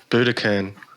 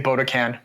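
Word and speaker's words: Budokan: Trick live at uh Buddakan is it Buddakan I was going to pronounce I always pronounce it wrong I always say bodaan Buddha can and oh man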